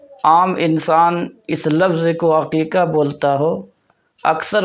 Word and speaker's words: عقیقہ: اللہ العظیم۔ ایک لفظ عقیقہ ہے۔ عام طور پر لوگ بولنے میں غلطی کرتے ہیں اور لفظ عقیقہ کو حقیقہ بولتے ہیں، جو انتہائی غلط ہے۔ انسان جب بھی